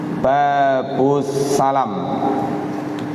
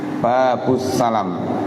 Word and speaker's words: Babus Salam: Baik, malam hari ini babu, babus salam. Babussalam. Kalau tidak tahu tulisannya, kadang bacanya babus salam, pintu keselamatan. Tapi ini babus salam. Lamnya pendek ya.